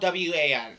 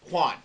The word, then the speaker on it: Juan: No, it's not spelled W-A-N. And no, it's not pronounced Wan. It's Juan. It's pronounced Juan. J-U-A-N. Get it right.